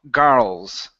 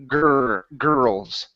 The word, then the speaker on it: girls: So what you're saying is girls. Okay. You're pronouncing a little bit too much of an ah sound instead of girls.